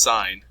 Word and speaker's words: sine: Now S stands for sine, and sine is abbreviated SIN, and that's not sin. Okay, so it's sine. Even if you see this word, it's pronounced sine.